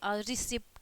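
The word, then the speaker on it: receipt: जब आपका उच्चारण करेंगे ना, जैसे कि रिसिप्ट हो गया, ठीक है, रिसिप्ट, तो त होता है ना, रिसिप्ट, तो टी लिखते हैं तो कहोगे त होगा, नहीं, ट होता है, ठीक है।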